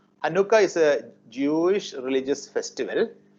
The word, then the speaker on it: Hanukkah: The pronunciation is Hanukkah. Hanukkah is a Jewish religious festival observed in December, something like Christmas.